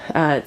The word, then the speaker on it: Gmund: They have a mill in Germany, Gmund (pronounced Munt), spelled G M U N D.